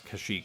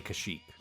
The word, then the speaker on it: Kashyyyk: But I do want them to pronounce Kashyyyk correctly. Don't give me that Kashyyyk stuff. You gotta say Kashyyyk.